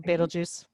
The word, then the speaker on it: Betelgeuse: I never quite know how to pronounce it. Betelgeuse.